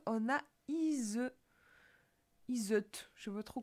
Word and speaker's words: Iseut: Alors, je disais comment Iseut, pour savoir comment je le prononce, je me suis dit Tristan et Iseut.